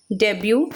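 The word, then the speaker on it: debut: Spelling तो डेब्यूट होती है लेकिन टी साइलेंट होता है इसलिए डेब्यू बोलते हैं।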